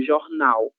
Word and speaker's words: jornal: Jornal, né? A letra J terá som J e palavras nas quais a letra L está em posição final de sílaba, essa L soa como U.